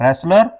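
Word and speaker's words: wrestler: mistake से बचना है रेसलर के ठीक टी साइलेंट होगा रेसलर डिड नॉट नाक आउट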